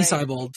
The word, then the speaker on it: Seibold: Seibold yesterday, and say his name. Seibold. Seibold. Seibold. Seibold. Seibold. Seibold. Not bald. He's not bald.